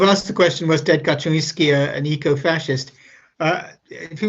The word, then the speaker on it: Kaczynski: the question was ted kaczynski an eco-fascist uh if he was called ted he was probably american we pronounced kaczynski uh the post pronunciation would probably be kaczynski don't worry about